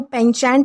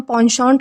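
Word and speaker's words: penchant: अब आपको देखकर लग रहा होगा कि ये प्रोनाउंसिएशन जो है वो पेंचेंट होना चाहिए, बट ये रॉन्ग है। इसका प्रोनाउंसिएशन पॉन्शॉन्ट होता है, जिसका मतलब होता है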